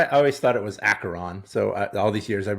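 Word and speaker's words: Acheron: good it's weird because I believe the way you do pronounce that is acaron but Vince likes to call it asheron so it's like Dr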